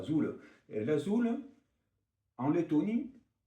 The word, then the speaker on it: Zole: Et la Zoule, Zoule, et ça se prononce comme ça, Zoule.